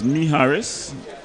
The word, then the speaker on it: Miharis: So this one is Miharis, pronounced just as it's spelled.